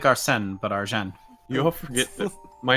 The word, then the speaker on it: Argent: Argent. Argent? Argent! Jean? No, not Jean. Argent. Do I have to Argent? spell it out for you? Arjan?